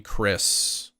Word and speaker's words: Chris: Yeah, the H is kind of silent, like in Chris, which is my name, C-H-R-I-S. The H is silent.